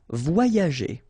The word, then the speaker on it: voyager: as we saw previously, you've got this Y letter here, okay, and it will be transformed like if you would have deux I, okay, so the first one will be combined with this O, so you will get voix, voix, and then the second one will be connected and combined with this A, ya, okay, so you get voyager, voyager.